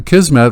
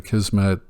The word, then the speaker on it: Akismet: and Hello Dolly now a kismet which for some reason I always used to call a scheme at four years I called it a schema and I finally realized that's not how it's spelled it's basically a comment